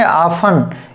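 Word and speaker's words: often: लिस्टन गलत हो गया, लेसन, इसको पढ़ेंगे शाफ्टन, ठीक है, तो इसे पढ़ेंगे शाफन, और इसे पढ़ेंगे आफन, यानी कि इसमें भी टी नहीं पढ़नी है,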